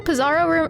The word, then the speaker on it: Pizarro: Did you know Pizarro rhymes with Bizarro?